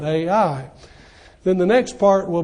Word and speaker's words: Ai: First are the initial battles for two major cities, the city of Jericho and the city of Ai, which is spelled just like you say it, Ai.